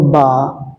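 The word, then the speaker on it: ب: দ্বিতীয় হরফ যেটা আছে সেটা হলো বা। বা, এই বাটা উচ্চারণ হয় দুই ঠোঁটের ভিজা জায়গা হতে উচ্চারিত হয়, বা একালিপ টান হবে, বা, বা।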